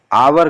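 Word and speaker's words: hour: जैसे एन हावर है, आवर कहा जाता है इसे, एन आवर।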